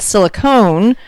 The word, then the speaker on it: silicone: So silicon is the element itself, and silicone is like an ice cream cone.